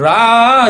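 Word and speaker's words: רע: 우리가 저거를 뭐라고 읽냐면 라 이렇게 읽거든요.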